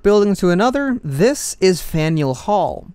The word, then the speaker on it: Faneuil: to another this is faneuil hall in colonial times the name was pronounced as funnel but with the name